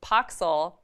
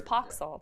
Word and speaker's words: Poxxil: a court figure now paxil is the scourge and he is am i pronouncing that right the scourge no it's pox all the scourge okay I'm always